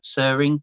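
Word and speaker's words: Tsering: The T is silent. It's Sering. Sering.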